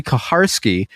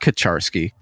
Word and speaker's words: Kaharski: feel horrible about it, but it's Kaharski, not Kacharsky.